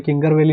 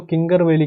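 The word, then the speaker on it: कांगेर घाटी: वैसे इसको कई लोग कांगर वैली भी कहते हैं, वैसे प्रोनाउंसिएशन एग्जैक्ट बोलेंगे तो कांगर वैली नेशनल पार्क है, कई लोग इसको किंगर वैली कहते हैं, किंगर वैली। किंगर वैली गलत है, पर याद रखने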